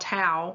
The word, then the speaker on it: tau: fibers of another protein called tau which rhymes with wow that build up inside